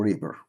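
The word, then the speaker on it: wrapper: او الغلاف ريبيبر او ريبر طبعا حرف الدبليو عشان بعديه ار لا ينطق طيب نكمل عندنا في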